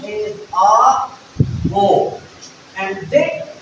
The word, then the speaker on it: Aufbau: So, the word is pronounced as A, Bo.